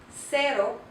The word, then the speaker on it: cero: And here we have another word, cero. Cero makes the soft C sound.